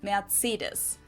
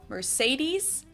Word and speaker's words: Mercedes: In German, we pronounce it Mercedes. So Mercedes versus Mercedes.